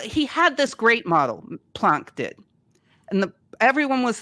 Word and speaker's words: Planck: years earlier earlier Max Planck or Max Planck I always feel weird saying punk I feel like I'm faking the name but I think that's how you say it if you're German anyway flunk came up with